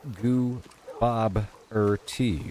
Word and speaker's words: Gooboberti: You're kind of saying Goobo and then Berti. It's really Gooboberti.